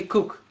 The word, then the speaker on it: Koek: used to say it wrong but it's like coke right like little coca-cola knows actually cook oh cool that's how you spell it like cooking yeah oh cooking that's the Dutch way to say it cook okay now you told me that it means